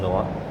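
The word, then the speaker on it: noir: school of film Noah n o i r Neuer but pronounce Noah so the film Noah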